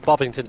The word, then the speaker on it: Bovington: Bovington.